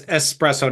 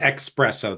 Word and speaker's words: espresso: slightly worse yes yeah pronounce espresso not expresso there's no X in it don't don't give me